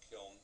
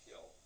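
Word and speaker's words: kiln: we call kill cars k i Ln is pronounced either kill or kill some people pronounce it that way traditional pronunciation is kill and so stacked on these kill cars which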